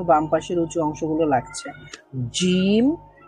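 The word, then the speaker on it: جيم: এই মধ্যভাগটাই লাগবে না এই মধ্যভাগের সাইডের অংশগুলো লাগবে উচ্চারণ করার সময় তো এখান থেকে কি উচ্চারিত হয় জিম জিম শিন আমাদের কোনগুলো লাগছে এই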